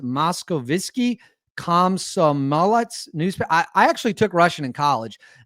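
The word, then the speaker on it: Moskovsky Komsomolets: Speaking of the Moscow, I think it's pronounced Moskovitsky Komsomolets newspaper.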